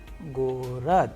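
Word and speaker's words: город: Now, we have another Russian word Gorod, Gorod, which means city. Here you can pay attention that how the letter G is being pronounced in the word Gorod, which means city.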